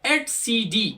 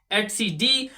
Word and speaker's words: etcd: cluster's current state and number four is the at CD it is pronounced as atcd or if you can say it etcd that is your choice but professionally it is pronounced as etcd and it stores kubernetes clusters everything all the